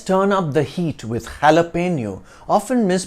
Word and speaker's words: jalapeño: n in Spanish and pronounced with an ny sound near with the O